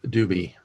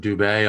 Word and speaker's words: Duby: Jewdoka moves on to the semifinals against the winner of Rise Again and Duby. We've been pronouncing him Dubé all along. I guess we're thinking it's French, but he said it's Duby.